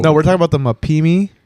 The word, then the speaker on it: Mapimi: All right, we're talking about the Mapipi.